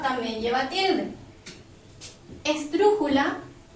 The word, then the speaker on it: esdrújula: Esdrújula, última, penúltima, antepenúltima, se carga la voz sobre la U, por lo tanto también lleva tilde.